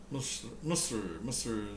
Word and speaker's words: Misr: Misr is Egypt, and actually in Arabic it's MSR, Misr. In Turkish it's dotless I, M.S.I, S.I.R, Misr. Pronounced the same way.